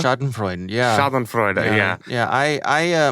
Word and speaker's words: Schadenfreude: How do you pronounce the word? Schadenfreude? Schadenfreude, yeah.